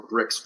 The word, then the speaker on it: BRX: And so we have what's called a Cointinuum BRX, or BRICS for short. And of course, it's no accident that BRICS, BRX rhymes with bricks, because of course that's what you use to build.